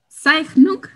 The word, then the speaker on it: Zeichnung: Okay, this is in Zeichnung. You can correct my pronunciation. It's right. You're good at pronunciation.